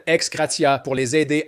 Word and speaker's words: ex gratia: Ils ont reçu des fonds de réinstallation ex gratia, je déteste le prononcer à l'américaine, ex gratia, pour les aider à se réinstaller dans ces nouveaux emplacements aujourd'hui.